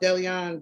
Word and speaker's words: DeLeon: It's pronounced DeLeon directly.